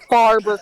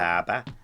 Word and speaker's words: Faber: Oh, Am I putting the first R in there? Is that Faba. what happens? You don't put any R in it.